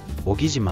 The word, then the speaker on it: 男木島: を紹介します名前は男木島東大キャンプ場で小島と読みます香川県の離島